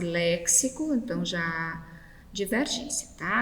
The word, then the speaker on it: léxico: trouxe texto sintaxe e léxico então já diverte-se a lembrando que esse impasse é a pronúncia correta x aqui nesse vocábulo tem som de s e não dks tá certo a 17ª